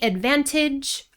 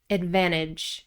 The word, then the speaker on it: advantage: Again, Americans usually drop the T after the N. You can say advantage. I usually say advantage, advantage.